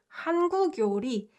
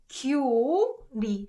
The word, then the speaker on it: 한국 요리: It should be 교리, because 그 and 요 has to be connected according to the rule that we just learned, right? However, these guys are not pronounced that way. These guys are pronounced 한국 요리, 중국 요리.